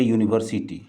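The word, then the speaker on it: university: उसी तरह से ए यूनिवर्सिटी। ए यूनिवर्सिटी, यू, हालांकि यू जो है वॉवेल है लेकिन इसका प्रोनाउंसिएशन ऊ नहीं करते हैं बल्कि यू करते हैं, इसलिए इसके पहले ए का प्रयोग होगा।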